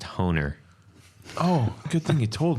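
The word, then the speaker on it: Hohner: I believe it's pronounced Honer.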